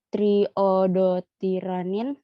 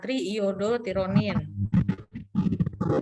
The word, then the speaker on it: triiodotironin: Lalu tiroid menghasilkan 3 hormon yang diproduksi dan dilepaskan oleh kelenjar tiroid, yaitu yang pertama ada tiroksin atau T4, triiodotiranin atau T3, dan kalsitonin. Triiodo, bacanya triiodotironin.